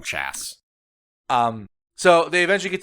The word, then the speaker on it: Chas: Tort C H A S, but I think it's pronounced Chaz, but we're going to call him Chass.